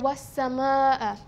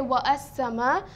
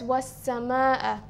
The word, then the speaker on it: والسماء: So we don't say wa as-sama, we say was-sama. Why? Because of the presence of the hamzatul qatar. And then we notice that seen here has a tashdeed on top, and this is because we said that seen is amongst the hurufu shamsiya. It is one of the sun letters. Therefore, the definite article al will not be pronounced.